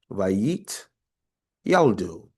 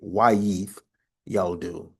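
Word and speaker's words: ויתילדו: first word, second row, Vayit Yaldu. Vayit Yaldu. Some of you all would say Wayith Yaldu, all right, or Wayit Yaldu. So some people would pronounce it as that.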